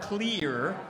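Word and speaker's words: Kleier: K-L-E-I-E-R, Clear, from Galloway, Ohio.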